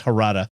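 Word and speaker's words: Jarada: relations with the Harada, it's spelled with a J, but it's Harada.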